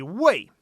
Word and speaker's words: 为: It's just a matter of the tone.